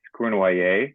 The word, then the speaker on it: Cournoyer: It's Cournoyer, it's French, but Cournoyer. Cournoyer is fine for No, the Cournoyer. American audience. Cournoyer sounds much better than the way I pronounce it.